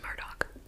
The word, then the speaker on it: Murdaugh: the murdock murders now i did have some confusion over how to pronounce it and i looked it up and found a lot of answers about i'm going with what the people from that area say which is murdock okay so now this